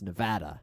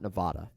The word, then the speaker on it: Nevada: just to clarify that's SMU at Nevada I've mispronounced that state a lot Rody but it's Nevada Nevada not Nevada just they get very the South man I